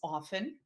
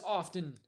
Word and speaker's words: often: Del Neeson suggests that 27 Across is often. It is often, habitually, often. Do you pronounce the Now, T?